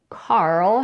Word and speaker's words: Carl: it's a female name Carl has only one syllable Carol has two syllables the vowel in the first syllable could also be different for the man's name Carl we use the vowel a as in father or car and for the woman's